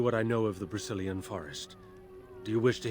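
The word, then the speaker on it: Brecilian: It's not Brazilian forest. I sometimes pronounce it very close to that. It's the Brazilian.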